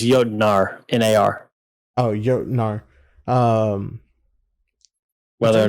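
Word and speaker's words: Jötnar: I think it's Jotnar, N-A-R.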